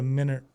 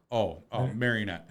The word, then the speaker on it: marionette: I want you to be a minaret. I already say that. Minaret? Marionette.